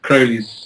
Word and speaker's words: Crowley: pronounce it yes it's Crowley as in holy gotcha what are your